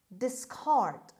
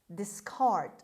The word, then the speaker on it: discard: word number eight discard discard discard the stress is on the second syllable on c or k sound discard means throw aside